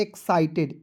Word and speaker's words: excited: EXCITED, तो पढ़ेंगे दोस्तों एक्साइटेड, EX को पढ़ेंगे एक्स, EX को क्या पढ़ेंगे?